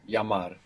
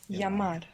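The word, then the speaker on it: llamar: call is Double L creates a sound in more Spanish dialects just like the Y double l a m a r yamar yamar good and we said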